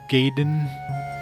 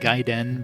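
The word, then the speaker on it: Gaiden: It's a ninja gyen, which we know now it's like giden, but back then it's like ninja gayen. We didn't know how to hell pronounce this this weird Japanese word.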